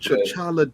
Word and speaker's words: T'Challa: What did T'Challa do? Did I say his name right? T'Challa?